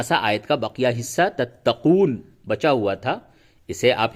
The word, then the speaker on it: تَتَّقُونَ: تا زبر تت، تا زبر تا، تت تا، قاف واو پیش قو، تتقو، دون زبر نا، تتقون. وقف کی حالت میں کیا ہوگا؟